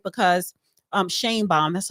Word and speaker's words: Sheinbaum: want to pause right there right because um Shan bomb that's how you say it okay they're saying